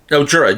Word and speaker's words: Jura: No, Jura, J-U-R-A. It is a whiskey, very nice whiskey. I mean, they have their own. I believe Jura is actually an island, if I'm not mistaken.